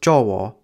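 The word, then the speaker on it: Jawa: Javanese has six vowels, a, e, I, o, u, and a, with a being pronounced o at the end of words or before another o, so the word for Java is actually pronounced jowo.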